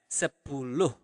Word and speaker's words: sepuluh: Also, for 10, you pronounce the H at the end of the word. So you really pronounce it as sepuluh.